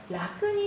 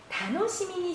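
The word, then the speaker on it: 楽しみに: 자, 한자는 같아요. 그러나 읽는 방법이 다른 거죠. 라크니 시데이르가 아니라요. 다노시미니 시데이르.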